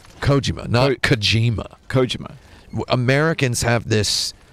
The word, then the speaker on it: Kojima: it does not belong Japanese names should be pronounced unaccented unenthused a hundred percent of the time Kojima not kijima it's what's your stance